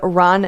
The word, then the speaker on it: Ran: But it's Ron, that's R-A-N, not R-O-N.